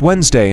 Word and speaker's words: Wednesday: The god Odin was known as Woden to the Anglo-Saxons, Wotan to the South Germanic people, and Wednesday, pronounced Wednesday in English, was formerly Woden's day.